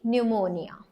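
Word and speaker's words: pneumonia: so let's see इन द पी N again an will going to make a sound लेकिन न्यूमोनिया okay न्यूमोनिया तो अभी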